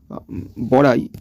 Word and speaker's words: বড়াই: যে বড়াই, এই যে বড়াইয়ের পর বড়াই, এখান থেকে ইটার উচ্চারণটা কমে গেল, বড়াই বড়াই, এই যে ইর উচ্চারণটা কমে গেল, বড়াই থেকে বড়াই।